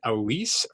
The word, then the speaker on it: Elise: be guests with Sarah Weeks from Punchmark and Elise from the Smithee Group. Did I pronounce that right? Elise?